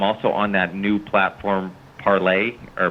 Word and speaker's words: Parler: on that new platform parlay or parlor i've heard people pronounce it differently it's i think it's a it's a french word so it's like pronounced parlez but it's uh it's